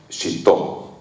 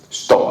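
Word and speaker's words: 使徒: Si ustedes afinaban el oído cada vez que se referían a estos seres, utilizaban el término Shito. Shto, a veces lo pronuncian tan rápido que se pierde la I, ¿no? Shto.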